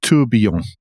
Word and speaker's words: Tourbillon: It's Tourbillon, because it's a French term, so it's a Y instead of a double L. There's no L's. Tourbillon, yeah. Oh, okay. It's like famille. Tourbillon.